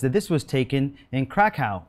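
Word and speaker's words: Kraków: this was taken in Krakow, or if you're Polish, I think you pronounce it Krakow.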